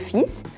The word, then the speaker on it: fils: Nesse caso aí, a palavra fils, ela é uma exceção, porque em geral a letra S no final das palavras em francês não é pronunciada, mas nesse caso aí ela precisa ser.